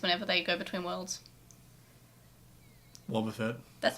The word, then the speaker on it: Wobbuffet: It's pronounced Wobbuffet, okay.